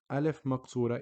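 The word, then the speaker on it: ألف مقصورة: from a pronunciation perspective alef moksura is pronounced just like your standard alef it is no different it just looks different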